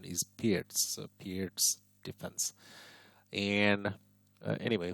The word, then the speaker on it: Pirc: the pirates bishop and oh by the way perk is actually the mispronunciation uh the correct pronunciation is pierced so pierce defense and anyway who cares about